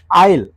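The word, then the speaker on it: isle: होता है स्तंभ अब इल इल मत देखिए इसमें क्या साइलेंट हो गया एस इसमें एस साइलेंट पे जब ये साइलेंट होगा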